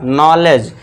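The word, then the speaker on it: knowledge: नॉलेज। के को silent कर देना है।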